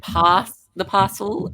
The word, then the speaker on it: Pass the Parcel: So pass doesn't have the S, it's just pa. Pass.